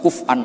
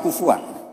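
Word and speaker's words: كفؤا: Harusnya qiraah masyhurah itu walam yakullahu kuf'an ahad bil hamzah. Dan rata-rata qiraah sab'ah bacanya, qurra sab'ah bacanya walam yakullahu kuf'an ahad. Bukan kufuan.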